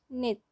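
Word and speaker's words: 넷: नित सिमिलरली इसमें भी ये स की जो साउंड है ये साइलेंट है, तो ये हो गया नित।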